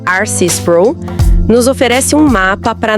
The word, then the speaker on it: R.C. Sproul: O livro de Spro, que se pronuncia Arcy Spro, nos oferece um mapa para navegar nesse paradoxo.